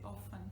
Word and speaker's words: often: But if you do want to sound like more, you know, conservative, academic, then the correct one would be often without T.